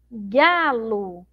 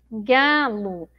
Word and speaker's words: galo: de Vinícius de Moraes galo Olha lá como é que é separar sílabas galo galo então eu pronuncio como se tivesse uma letra U mas na verdade eu tenho uma letra O certo bom Então olha